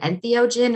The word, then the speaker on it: entheogen: The first one is the proper pronunciation of this. Is it entheogen or enthogen? Entheogen. Entheogen.